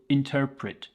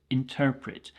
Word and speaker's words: interpret: this is a verb the pronunciation at the end please be very careful interpret interpret so this means to